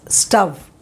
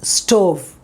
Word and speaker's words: stove: is rome this is don't pronounce this as stuff no it is stove okay this pronunciation should be stove you don't say s-t-o-v-e